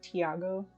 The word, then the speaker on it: Thiago: so i'm told that your name is pronounced thiago according to my partner because he knows spanish and i do not count so we're supposed